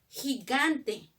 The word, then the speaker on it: gigante: Ahora, por ejemplo, gigante. Gigante. Dime, gigante los dos son con G, ¿no es cierto? Pero ¿cómo suena el primero? ¿Como G? No, suena como J.